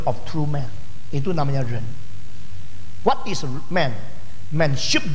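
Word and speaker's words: 仁: Jadi istilah ren, semua ikut ren. Bacanya sama-sama ren ini. Jadi manusia itu ren, manusia yang sudah sukses ren, sama bacanya ren, ren.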